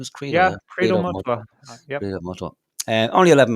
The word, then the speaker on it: Credo Mutwa: Yeah, Credo Mutwa.